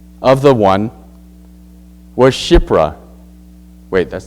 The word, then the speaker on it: Shiphrah: Hebrew midwives, of whom the name of the one was Shiphrah. Wait, that's not how you say it. Yeah, it is. Right? Yeah, Shiphrah.